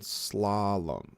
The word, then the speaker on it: slalom: And slalom.